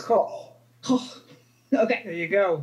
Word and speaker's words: Koch: It's Koch.